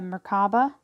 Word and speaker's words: merkabah: the hermit and using the merkabah or merkaba there's two pronunciations see that divine sacred